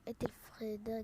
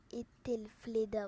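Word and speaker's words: Aethelflaed: Alors là, ce qui se passe, c'est que dès que tu entres, tu auras Ethelfreda gratuitement. Attends, je vais regarder comment on prononce. Attends, Ethelfleda, voilà, Ethelfleda gratuitement, c'est un commandant légendaire qui est bien.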